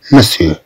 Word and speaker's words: monsieur: كما واحد أنا تكتب monsieur. ولكن تنطق monsieur, monsieur.